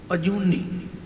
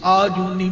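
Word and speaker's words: ਅਜੂਨੀ: अजूनी, इहदा उच्चारण आम तौर पर मैं देखा कि अणजाणपुणे विच असीं आजूनी बोल जाते हैं, आजूनी, आजूनी नहीं कहना।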